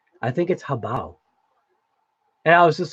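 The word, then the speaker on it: Hobao: And you know what's funny is I think my daughter actually told me that I was saying it wrong, because she heard me calling it Habeo, and she was like, "Dad, I think it's Habao."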